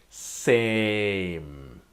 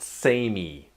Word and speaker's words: same: The A is same, alright? And strong M. It's not samey, alright? The E is pretty sort of silent, like same.